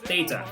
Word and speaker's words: theta: It's pronounced theta.